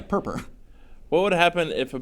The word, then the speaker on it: Perper: Perper. What? Uh, PRPR. Oh, yeah. Purp.